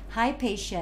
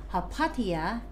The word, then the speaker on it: Hypatia: science how about hypatia hypatia is how the british pronounce it and hapathia in usa so have you heard